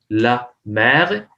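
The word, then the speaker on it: l'homme: अब ये बहुत ही सिमिलर वर्ड से, लॉम, एच यहाँ पे साइलेंट है तो मैं डायरेक्टली लॉम, इसका आर्टिकल जो है लो होम है।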